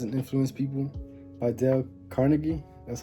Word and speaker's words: Carnegie: to Win Friends and Influence People by Dale Carnegie that's how you say it um this good